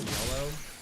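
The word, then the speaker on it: Yelough: You pronounce it like just like yellow.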